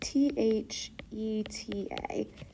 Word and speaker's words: theta: So this symbol theta and that is pronounced t h e t a theta.